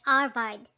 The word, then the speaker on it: Harvard: you call it yes pronouncing it arvad since the h is always silent in spanish oh yes indeed i